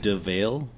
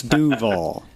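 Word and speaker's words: Duvall: Isn't it DeVale, Washington? No, Dave, that's a Canadian pronunciation. Yes. It's Duval.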